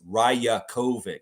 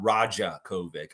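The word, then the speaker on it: Rajaković: It's Rajakovic, not Rajakovic. I made the mistake too in the beginning too.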